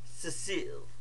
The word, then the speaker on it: Cecile: And now that's not a slip of the tongue, that's how you pronounce his first name. Cecile.